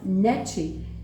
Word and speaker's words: Nietzsche: Le grand philosophe, ça se prononce Nietzsche, Friedrich Nietzsche, dont le père était un pasteur luthéran, a abandonné le christianisme et il est devenu un athée.